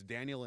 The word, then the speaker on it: Daniel: It's Daniel in English, Danielle in Spanish.